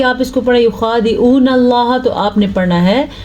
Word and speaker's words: اللہ: پڑھا جاتا ہے، اور اگر لفظ اللہ سے پیچھے والے حرف کے نیچے زیر ہو تو لفظ اللہ باریک پڑھا جاتا ہے، جیسا کہ کل کے